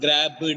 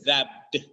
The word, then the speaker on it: grabbed: it's not like that there must not be a soft uh sound in between B and D it's not grabed it's grabbed D must be there it's not club is